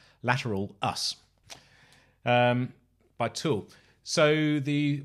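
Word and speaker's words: Lateralus: it i was q i always call it later lateralis but i was correct again as saying it's lateral us um by tool so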